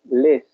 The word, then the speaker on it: les: Les, está el artículo definido, plural, les, significa los, las. En francés se escribe L-E-S, les, significa los, las.